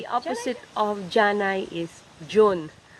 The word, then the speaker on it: dyun: The opposite of Janay is June. I used to spell it with a J, like June, the month of June. But actually, it's the slurred form of DYUN.